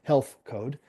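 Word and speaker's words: HLTH Code: Um H L T H is how it's spelled, but it's pronounced Health Code.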